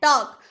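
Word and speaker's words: talk: बोलते टॉक बोलते हैं लेकिन चुप का क्यों है एल चुप क्यों है क्योंकि वो के से पहले आया है इसीलिए वो चुप हो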